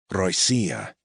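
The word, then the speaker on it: Россия: Russia Roya accent on the second syllable and its cognate adjective Russian rasci as in Russian Federation.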